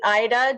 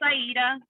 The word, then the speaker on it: Aida: Oh, Is it Ida? Did I pronounce it correctly? It's Aida. Aida.